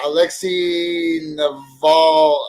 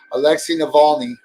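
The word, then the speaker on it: Alexei Navalny: about this one uh alexi neval oh my gosh i hate it when people can't pronounce names it's like if you're gonna do a show go ahead and learn the people's names before you do it alexi navalny is the guy's name i just uh started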